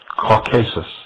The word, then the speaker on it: Caucasus: For his disobedience, Prometheus, like Lucifer, was chained and placed upon the brow of Mount Caucasus, or some pronounce it Caucasus, there to remain with a vulture gnawing at